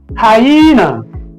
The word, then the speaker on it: hyena: So the stress syllable of this word falls at the middle on the second syllable. Okay. So we have hi. E hyena.